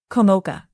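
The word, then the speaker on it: Komoka: I pronounce it. Kamoka.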